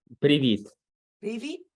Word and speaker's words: привіт: Привіт.